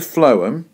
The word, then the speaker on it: phloem: you've got it coming down here in the phloem which you'll notice is spelled p h l o e m and